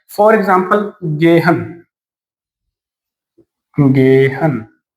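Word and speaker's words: gehen: जी को हमने क्या पढ़ा? ग। ई को ए। एच, एच के दोनों तरफ वोवल है, रूल एप्लीकेबल है, तो हम इसको क्या पढ़ेंगे? ग। ईएन को न, तो क्या हो गया? गेहन।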